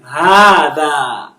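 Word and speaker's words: هذا: Hada. So this alif is elongating the ha, and this other alif is elongating the da.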